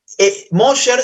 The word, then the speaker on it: Mosher: Mosher se escribe M-O-S-H-E-R, así como suena Mosher, con S-H.